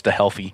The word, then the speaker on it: StHealthy: It's your brand. You can pronounce it how you want, but when I have to explain it to people, it's always StHealthy. Yeah, that's how I say it, just so they know the H there.